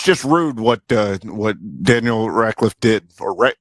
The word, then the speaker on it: Radcliffe: it's just rude what Daniel Radcliffe did, or Radcliffe. Is that how you pronounce that kid's name?